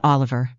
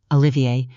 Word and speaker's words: Olivier: Sabine entered with Priscilla beside her and one other person, a quiet young man named Olivier, not Oliver, Olivier, with the deliberate French pronunciation of someone whose name carried a specific weight, who carried a slim